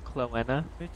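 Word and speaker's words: Chloena: It's Cloenna. You can't leave a message. Indeed. How do you spell that?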